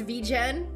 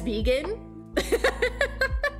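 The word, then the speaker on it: VGen: the the community has decided that it is pronounced vegen every time I type it out I do read it as vegan so I I'm in the camp of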